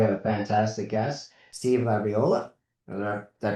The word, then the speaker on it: LaBriola: Welcome back to the consult and commentary podcast and today we have a fantastic guest, Steve Labriola. Did I pronounce it correctly?